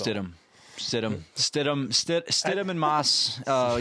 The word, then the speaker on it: Stidham: it it it when you see it it phonetically it's stit ham like if you if you were to sound it out it sounds out as Stam but as culture goes STM is how it's pronounced STM stum stum STM and Moss uh you know yo